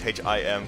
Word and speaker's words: HYM: I've mispronounced it once and he won't shut up about it, but I'm going to go with the meme at this point. But it is the notorious HIM, coach of the Brooklyn